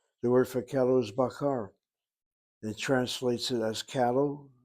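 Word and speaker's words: בָּקָר: shva na when you shift your syllables or shift the accent. Let me double check that word bakar.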